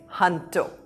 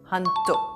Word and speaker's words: junto: Now, this is a Spanish word, and in Spanish, J is pronounced as H. So this is Junto, not Junto.